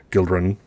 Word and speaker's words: Gildrun: house gildren i'm and i'm choosing to pronounce it with like a quick you guildren children somewhere between you and an eye it just flows for me you may pronounce it any way you wish we can always